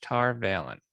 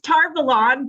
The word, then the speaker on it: Tar Valon: called the flame of tar valentin i probably butchered that that's tar valon but you know what